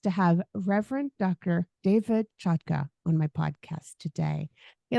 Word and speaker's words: Chotka: go by that sure you you pronounced my name correctly so kudos to you it's a Ukrainian name now everybody in America